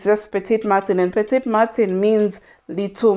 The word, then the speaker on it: Petit Matin: I definitely know it's a French word, Petit Matin. So I don't know why I was thinking it's Martin as in Martin the name, but there's no R, so it's just Petit Matin, and Petit Matin means little morning.